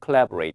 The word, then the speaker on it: collaborate: collaborate. 우리는 이제 뭐 collaborate 이렇게 하기도 하는데 영어 발음은 collaborate 혹은 collaborate 이렇게 앞에가 커에 가깝습니다. 코가 아니라 중요한 동사 협력하는 거죠.